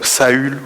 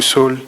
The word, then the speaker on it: Saül: on le connaissait plus comme Saül ou soul dépendante des différents prononciations qu'on a donc c'est une